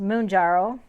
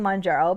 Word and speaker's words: Mounjaro: Manjaro and obviously Manjaro is supposed to be pronounced moonjaro so a man in the moon jarrow and I've been mispronouncing Manjaro which I will continue calling monjaro because to me it makes sense m-o-u-n um